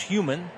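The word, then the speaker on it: Huhman: So there's an extra H, but it is pronounced Human.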